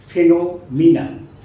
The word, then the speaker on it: phenomenon: এর উচ্চারণটা কিন্তু ফেনোমেনন নয়, ফেনোমিনান, ফেনোমিনান, অ্যান্ড ইটস a noun, singular noun.